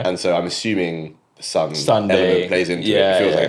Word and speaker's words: SONDAE: So the main artist is called Sunday. I believe that's how you say it. So it's SONDAE. SONDAE. Okay, cool. I'm assuming it's Sunday.